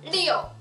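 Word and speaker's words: 六: 네, 숫자 6은 4성이네요. 리오, 리오.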